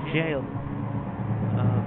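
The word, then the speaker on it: gaol: Here we are in jail. Sky Jail, which for some reason is spelled as G-A-O-L.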